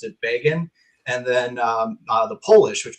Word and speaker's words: Begin: So he pronounced it Begin, and then the Polish, which my family takes it from.